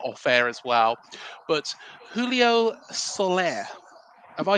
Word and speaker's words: Julio Soler: I always want to get the pronunciation right, but we were talking about it off air as well. But Julio Soler, have I said that right?